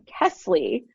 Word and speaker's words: Kesley: Kesley.